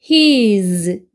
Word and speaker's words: his: 그다음 얘는 to 소리고 얘는 his z 발음이거든요. z 혀를 좀 밀면서 이렇게 진동 떨리는 소리로 z 이렇게 되고요.